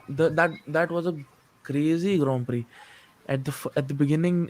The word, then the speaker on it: Grand Prix: Prix from praying yeah it's not a grand picks but it's Grand Prix of Grand Prix that's